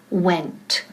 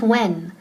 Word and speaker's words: went: Entonces se conjuga a que went. Repeat, went. Y don't forget esa T al final, no es when. Porque si no dices, no pronuncias bien la T, when, eso significa cuando.